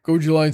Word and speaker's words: Gojillion: Sorry, I know how to pronounce that name now. Goji Lion says Solrak's father passed away.